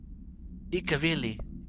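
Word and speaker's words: Ilkka Villi: Ikavili.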